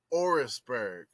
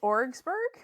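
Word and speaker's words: Orwigsburg: oh Jesus all right folks um this one is spelled o-r-w-i-g-s-b-u-r-g orrisberg how about or wagsberg since your [ __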